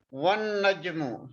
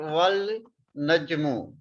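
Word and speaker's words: وَالنَّجْمُ: One najmu is pronounced at one najmu and not wal najmu or wa an najmu.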